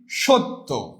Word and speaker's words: সত্য: যেমন আমি যদি বলি সত্য, এই যে যুক্ত বর্ণ হলো না, এই তয় জাফলাটা যুক্ত বর্ণ না, এর আগে আমি কি করব? উচ্চারণ করব সৈত্য।